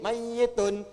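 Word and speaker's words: ميت: Pakai tasdid. Mayyitun.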